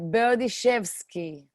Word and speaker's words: Berdishevsky: a lot for people what about you right berdychevsky bertaszewski awesome and she's joining us from israel